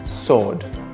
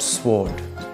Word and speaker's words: sword: can pronounce five pants w as in sword it's not sward X as in draw